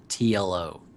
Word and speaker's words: TLO: play the German hero TLO oh man and I love tiolo's name because you get to say it like t l o I know any any